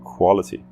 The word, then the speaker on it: quality: Vamos olhar agora a palavra quality, quality, que a sílaba enfatizada é qual, qual, e esse A é um som diferente dos outros sons que a gente já falou.